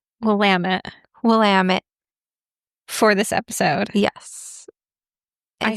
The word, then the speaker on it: Willamette: And then somebody online very helpfully did the rhyme of Willamette, damn it. Right. She sounded very trustworthy. So we're going to go with the rhymes with damn it, Willamette.